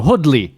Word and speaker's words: Hoodley: No, Hoodley, not Hoodie.